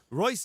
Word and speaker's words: Reus: R-E-U-S does not look like it should be pronounced Royce, but there we go.